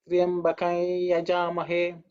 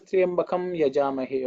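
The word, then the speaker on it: त्र्यम्बकं यजामहे: So usually they would pronounce it as Triyambakai Yajamahe. That is the way it is pronounced because the Anuswara changes. So that is the technical detail. But there are people who pronounce it as Triyambakam Yajamahe also. They feel that is also not wrong.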